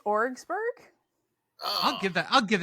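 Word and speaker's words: Orwigsburg: oh Jesus all right folks um this one is spelled o-r-w-i-g-s-b-u-r-g orrisberg how about or wagsberg since your [ __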